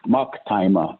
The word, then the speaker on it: Maktima: It's just my name is pronounced Maktima, Mocktyma.